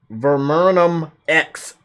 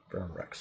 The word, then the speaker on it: Verum Rex: Verum X Kingdom Hearts 3.